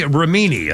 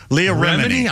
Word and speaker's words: Remini: speaking of social media Lee romini I think is how you pronounce it they are Remini I've always mispronounced Leah Remini uh she's the former